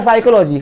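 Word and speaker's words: psychology: इसी प्रकार होता है साइकोलॉजी, वहां पे पी के बाद एस नहीं पढ़ पाते, स्पेलिंग चालू होती है सी से, पी चालू होती है। साइकोलॉजी में आप पी के बाद एस नहीं पढ़ पाते हैं। अब जब पी के बाद हमारे मुंह से एस निकल ही नहीं पाएगा तो हम लोग पी को नहीं पढ़ते हैं, वही हमने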